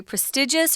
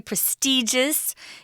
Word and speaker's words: prestigious: If you're talking about a school that is very prestigious or very prestigious, it's pronounced both ways, just means it's highly respected.